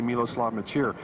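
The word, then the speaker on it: Miloslav Mečíř: how to pronounce his name in fact it's pronounced a lot of different ways but we say miloslav maer he is a wonderful player moves around very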